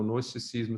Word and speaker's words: gnosticismo: O gnosticismo, sem pronunciar o G, que é aquela filosofia que separava a matéria de espírito.